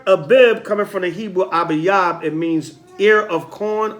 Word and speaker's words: Abayab: Abayab. All right. A-B. I can spell it.